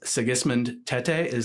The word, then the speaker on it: Sigismund Tetteh: With me today is Sigismund Tetteh. Am I pronouncing that correctly?